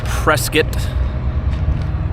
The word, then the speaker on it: Prescott: we hunkered down for a few hours in Prescot not Prescott for all you Northerners it's called presc or pronounced Prescot but we uh we found this